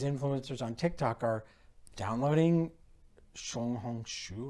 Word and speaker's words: Xiaohongshu: Hansen speaks Mandarin, so he said Xiaohongshu, which means little red book.